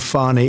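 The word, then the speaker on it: Fani: uh she very unfairly she goes by the name of fonnie even though it's F A ni I she wants to pronounce fonnie she's little little French little French accent and her lover and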